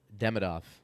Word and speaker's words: Demidov: I know, but apparently uh Ivan uh Demidov, if I'm pronouncing it correctly. Yeah. Um or depending on which syllable you're accenting.